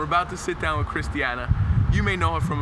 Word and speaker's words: Khrystyana: Christiana.